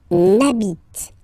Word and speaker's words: n'habite: but as I said, you don't pronounce it. So the first sound you hear here is the vowel.